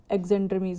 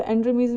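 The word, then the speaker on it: Xandrames: जेंड्रमीज भी बोल सकते हो, एंड्रमीज भी, एक्स साइलेंट भी करते हैं कई, और एक्स लगा के भी इसको कंप्लीट करते हैं, तो आपको ध्यान रखना है।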